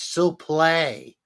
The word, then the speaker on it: suplex: I can't believe he just took that suplex. Suplex. My goodness. You're not saying it right. It's sup play.